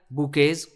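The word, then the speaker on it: bouquets: While others, जबकि जो दूसरे थे, कैरीड, उन्होंने कैरी किया बुकेज। देखो बुकेज कितना अजीब सा वर्ड है ना, इसमें टी भी आता है लेकिन इसका प्रोनाउंसिएशन है बुके।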